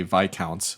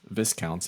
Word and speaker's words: Viscounts: the west kingdom also taught me how to say vi counts which i would have pronounced viscounts if i'd ever read it until i heard board